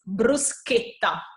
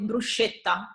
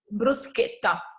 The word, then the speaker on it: bruschetta: the the correct way to call it is bruschetta while I know I know in the u.s. you call it bruschetta because of the CH that you pronounce instead is bruschetta so this is really important for us okay